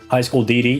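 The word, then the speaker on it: High School DxD: High School DD, yeah, that's how you say it. You don't pronounce the X.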